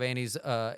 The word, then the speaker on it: Anne: mother has called me Annie. So, Annie it is, but it's spelled A N N E.